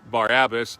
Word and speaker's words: Barabbas: And like I mentioned earlier, that really wasn't how they pronounced his name. What the part that they were pronouncing was Bar-Abbas. But the oldest Bible manuscript says that his first name was Jesus. He was Jesus. The Bar means son of Abbas.